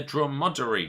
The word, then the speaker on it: dromedary: Is it A, the Bactrian camel, or B, the dromedary camel?